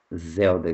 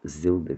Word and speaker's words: Zelda: na vida real com Zelda Scott, ou Zilda Scott, como queiram, eu prefiro pronunciar Zelda.